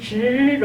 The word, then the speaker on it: zhi: 이 발음이 이제 음모를 할 때 이를 하긴 하는데 이 성모하고 결합되어서는 으 발음이 날 때도 있고 이 발음이 날 때도 있거든요. 여기도 그래요. ZHI는 즈로 하잖아요.